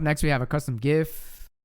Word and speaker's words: GIF: we have a custom gif with a soft g because jif is a peanut butter but we won't get